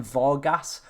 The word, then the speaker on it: Varga: And then Vargas or Varga, however you want to pronounce that one as well from Hungary.